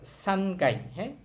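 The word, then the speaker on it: 三階: দুই একটা জায়গায় উচ্চারণ সহজে করার জন্য ওরা গাই বলে।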